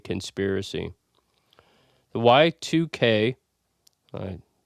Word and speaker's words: Y2K: So, I have for you today the YTK conspiracy. The Y2K I mispronounced that when I said Y2K conspiracy uh